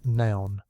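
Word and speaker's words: None: 9th hour, pronounced noun, but felt like nun, named for the Roman 9th hour.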